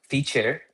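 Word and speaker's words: Feat.: So I'm building Feature. Uh it's spelled feet, f e a t dot.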